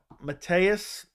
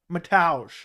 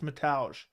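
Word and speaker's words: Mateusz: the loss to um Matthias or hold on how do you pronounce it I forgot how you pronounce I forget I always want to say Matthias but it's something else mataj it's metage metallic gam rot but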